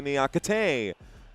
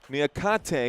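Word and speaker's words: Niakhaté: Koulibali plays this one to Nyakay. Nyakate, excuse me, put the accent on the wrong sal there.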